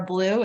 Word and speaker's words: Bleau: with you and mark my name is blue it's pronounced like the color great and um i'm